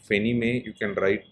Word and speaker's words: Fannie Mae: Mae so this is how it is pronounced fenimae you can write like